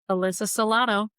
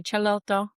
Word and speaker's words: Salotto: I'm your host, Alyssa Salotto, or if you prefer more Italian pronunciation, go ahead and say Cialotto.